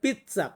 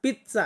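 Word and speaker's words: pizza: ভাবে উচ্চারণ করে দেখবেন যারা অরিজিনাল ইতালিয়ান পিচ্চা পিচ্চা এমনটা উচ্চারণ করে থাকে দেখবেন একটু বস যখন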